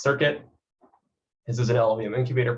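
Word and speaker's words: CIRCT: all love our acronyms it's circuit ir for compilers and tools pronounced circuit this is an lvm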